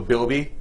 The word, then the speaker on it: Bilby: It's called the Bilby. That's the name. So keep your eyes out. It rhymes with Kirby, so I don't know.